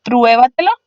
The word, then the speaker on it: pruébatelo: Por último tenemos en pruébatelo. Pruébatelo es una palabra que tiene su sílaba tónica en la antepenúltima, en la cuarta de atrás hacia adelante y llevará tilde.